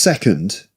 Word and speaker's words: second: The schwa sound. I usually talk about it is the most frequent sound in English and it's very important because um many words have it right because it's the most frequent sound and it's very small. It's a very small sound like uh uh uh second you know just a the and and you nearly open your mouth.